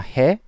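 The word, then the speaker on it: へ: exactly when we need the time particle knee and when we don't in the next section section four okay and the last particle is a this is hiragana hey this is hiragana but it's pronounced as a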